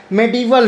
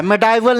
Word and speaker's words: medieval: तो इसका actual pronunciation जो होता है मेडिवल होता है, मेडाइवल नहीं बोलते हैं, मेडिवल।